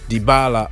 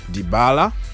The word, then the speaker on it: Dybala: injury is severe so we might not see dybala or dibala whatever you want to pronounce it but in argentina they say dybala okay so he's not